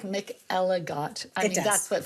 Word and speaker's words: McElligott: I guess it sounds like Mick Ellott. I mean, that's what phonetically it sounds like. Mick Eligot.